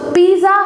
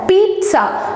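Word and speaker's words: pizza: ஸோ பீஸா ஹட் அப்படின்றத நம்ம கேள்விப்பட்டிருப்போம். பட் ஆக்சுவலாக அதோட ப்ரொனவுன்சியேஷன் என்ன அப்படின்னு பார்த்தீங்கன்னா, அது பீஸா இல்லை, பீட்ஸா. ஸோ இந்த இடத்துல நீங்கள் டீ போட்டு ப்ரொனவுன்ஸ் பண்ணணும்.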